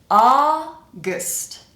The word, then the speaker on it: August: So we pronounce a a like an awesome. So we have a and then our second syllable is gust. Gust. Here we need to reduce the vowel to awah. So we're pronouncing basically just the consonants. It kind of sounds like the vowel disappears.